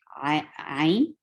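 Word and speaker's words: عين: Ain is more than two, so it will be stretched I, Ain, Ain, Ya. Ain is first, Ya is second, Noon is third. So there are three letters to pronounce Ain.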